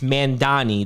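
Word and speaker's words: Mamdani: And you know, as Karen brings up in the chat about this guy, it's Mandani, that's his pronunciation.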